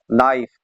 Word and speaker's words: knife: Identify the word having a silent letter. Dear students, इसका correct option है B है knife, KNIFE knife.